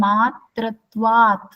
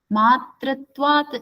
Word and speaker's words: मात्रत्वात्: See, some of you are not pronouncing matratvat. Matratvat is there, right? When you see in the book, do you see matratvat or matratva? It is matratvat. Pronounce it fully.